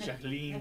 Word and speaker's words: Jacqueline: But I said Jacqueline Van Bierk. You made her sound French.